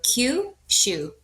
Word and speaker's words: Kyushu: So, with what you're going to be doing is pretend that it's the letter Q followed by the word shu. So, Q shu.